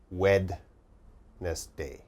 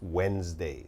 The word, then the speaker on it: Wednesday: okay what's the problem now Wednesday has a d but when we say Wednesday uh we don't say the D sound we don't say wedness day okay it's Wednesday so this is Wednesday